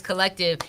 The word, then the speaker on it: CLLCTVE: So collective, we spell it with no vowels except for the E at the end. So CLLCTVE. It's collective, and pure transparency.